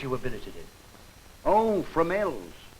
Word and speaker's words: Fromelles: Tell me, Burton, how do you pronounce the name of that place you were billeted in? Oh, Fromelles. Fromel.